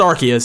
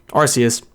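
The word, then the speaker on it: Arceus: me I mean feel free to but it's pronounced archus so I'm going to do my best to pronounce arus as archus and not rcus so sorry for that I correct myself near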